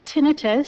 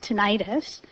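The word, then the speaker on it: tinnitus: very important issue um the issue of tinitus sometimes pronounced tenius and it's especially important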